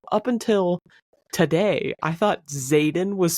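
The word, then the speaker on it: Xaden: Zaden.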